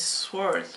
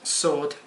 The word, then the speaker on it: sword: This traditional Japanese sword. Sword, pronounced sword.